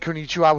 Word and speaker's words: konnichiwa: And you said konnichiwa, which is how that's pronounced.